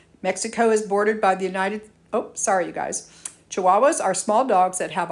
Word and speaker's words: Chihuahua: The largest state in Mexico is Chihuahua, pronounced Chihuahua.